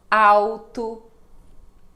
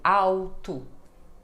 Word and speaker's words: alto: legal funil Uhum Então som de u ou quando ela está no meio de palavra e não tem uma vogal depois como em calmo alto exatamente som de u alto calmo podem praticar vamos